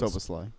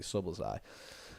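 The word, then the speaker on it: Szoboszlai: and the Hungarian whose name I'm going to mispronounce. Soboslai. I will never say that correctly. Soboslai.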